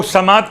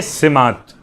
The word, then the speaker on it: سمات: خدمت میں کہوں کہ تلفظ لوگ سماعت کر رہے ہیں، لفظ سماعت نہیں، زبر کے ساتھ نہیں بلکہ زیر کے ساتھ، دعائے سماعت۔ اور اس کا ایک